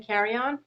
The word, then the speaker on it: Carrion: so it's coach carmen carry on and i'll put it in the notes as well but my spell you know my name is spelled c-a-r-r-i-o-n carmen carry-on and if you just